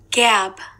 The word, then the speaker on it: gab: 발음은 Gab. gap. 뒤에 p로 끝나면 gap 있죠. 그다음에 뒤에 b가 있기 때문에 gap.